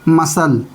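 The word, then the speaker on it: muscle: मसल। एम यू एस सी एल ई। यानी ए सी silent है।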